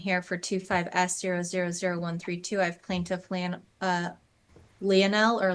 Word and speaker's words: Lionel: I have plaintiff Lionel or Lionel. Sorry, how do you pronounce it? Lionel.